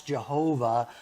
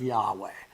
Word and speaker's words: Yahweh: for God and that's Jehovah which um I did some research on and apparently is just a mispronunciation of Yahweh so uh when you